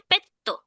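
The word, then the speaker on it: ペット: আচ্ছা, পোষা প্রাণী যে কোনো, মানে পোষা প্রাণী পেট যদি বলি আমি, জাপানিসে পেত্তো, যেটা কাতাকানা উচ্চারণ হচ্ছে ইংলিশের মতো, পেত্তো।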